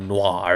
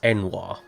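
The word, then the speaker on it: N'wah: mate's problem now it's not Noir it's enir God you you are loud Wilson you're incredibly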